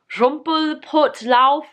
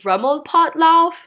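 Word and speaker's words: Rummelpottlaufen: first one is called rumple put lauff no i just totally just butchered that it's a rumble potloff it says i'm gonna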